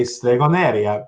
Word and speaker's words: Stregoneria: than having that issue, that we say Stregoneria, because that's how all of my friends and family that are Puerto Riqueño and everything would pronounce it anyway.